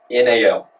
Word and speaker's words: Colonel: Colonel, if we want to be smart, Colonel should be Cernal.